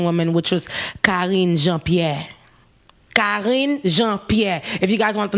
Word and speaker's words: Jean-Pierre: a black haitian woman which was calling jean-pierre jean-pierre if you guys want to know the pronunciation i know a lot of people are